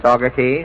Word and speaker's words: Saugerties: Now, first this evening, we welcome the Sickles Hayseeders, a hillbilly band from Saugerties, New York. Is that pronunciation that's right? That's right, Mr. Allen. Saugerties?